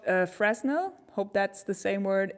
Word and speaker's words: Fresnel: what what do i you don't pronounce the s in english fresn how do i not pronounce the s in fresnel fresnel for netherlands okay for